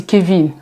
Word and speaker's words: Kevin: pour je vers vous c'est Kevin on prononce en anglais pas en français pas quein voilà Kevin a kené pa